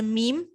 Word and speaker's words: م: Okay, then we have the meme. Meme is just pronounced by closing your two lips together.